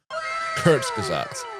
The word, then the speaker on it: Kurzgesagt: the time to go, right, how do I pronounce this name? Kurzgesagt.